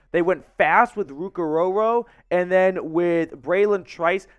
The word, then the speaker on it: Orhorhoro: Then they traded up in round 2 to get Clemson defensive tackle Ruke Orhorhoro. I know, it's not a bad Scooby-Doo impression. That is how you pronounce his name.